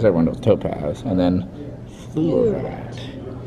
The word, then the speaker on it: fluorite: Everyone knows topaz, and then fluorite. Sounds like fleur, but not.